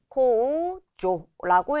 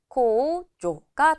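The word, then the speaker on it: 控除: 그래서 코겐이라고 읽어주시면 되겠고, 공제하다라고 할 때도 이응 받침이 왔기 때문에 코우조라고 읽어주시면 되겠죠. 이때 이 공제라는 단어, 조는 짧게 단음으로 읽은 것도 체크해 주세요. 코조가 되겠습니다.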